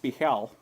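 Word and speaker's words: Bhaal: So, okay, so this says it's pronounced Bihal, and Bihal was the Lord of Murder.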